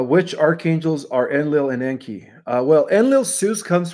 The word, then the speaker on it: Enki: Um I keep Enki and Enlil straight because Enki rhymes with stinky.